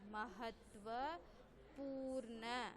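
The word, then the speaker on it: महत्वपूर्ण: Ta is joined with va. So how we will pronounce? Tva. How we will pronounce? Tva. Next, pa. Pa having which matra? U matra. Long sound u. U matra. So we will read pa plus u, poo. Next, here again it is a combined letters. Ra plus na. Ra plus na. So how we will pronounce? Na. Purna. Like that we will read Purna.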